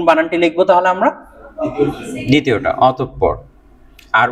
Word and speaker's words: অতঃপর: অতঃপর। উচ্চারণটা কি হবে? অতঃপর। আমি যদি বানানটা এইভাবে ভেঙে দিই আপনাদেরকে, প প র, ঠিক আছে? অতঃপর। ক্লিয়ার? হ্যাঁ হ্যাঁ হ্যাঁ, অতঃপর বলা যাবে না, কি বলতে হবে? অতঃপর।